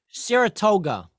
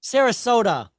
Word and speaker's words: Sarasota: Saratoga. Saratoga, is that Georgia? Maybe I'm saying it wrong. What's an S? Sarasota? Sarasota.